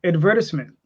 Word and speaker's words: advertisement: Just like advertisement. And see, but that's just a pompous New York advertisement way of saying it. No, Advertisement. that's how the Brits pronounce it.